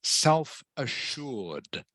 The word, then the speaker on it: self-assured: Self assured. Close. It's pronounced self-assured. Assured. Assured. Yes, self-assured. Self-assured.